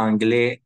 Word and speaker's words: anglais: AI, toujours E en français. AI, toujours, on va prononcer comme un E.